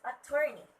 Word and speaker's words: attorney: Next is attorney. Attorney. Okay, the stress word should be at the second syllable.